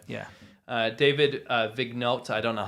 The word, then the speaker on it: Vigneault: David Vigneault, I don't know how to pronounce French. Yeah, Vigneault.